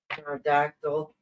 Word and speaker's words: pterodactyl: Pterodactyl, use the bathroom. Why can't you hear the pterodactyl here? We're waiting for the punchline. That is it. Oh, because the P is silent.